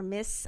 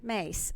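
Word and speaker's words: Myss: was Carolyn Mies or miss I my SS I pronounced miss primary Thank You mace thank you for that for correcting me on that and I apologize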